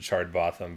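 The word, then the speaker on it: Chard Botham: Rick and Morty episodes with my good friend chard boffin hello it's me Charter both them did I say it right aye I pronounced it chard bottom but it's also a fake name that doesn't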